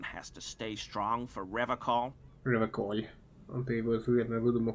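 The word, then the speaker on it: Revachol: I like to pronounce it the hard way, the old way, the Vespertine way.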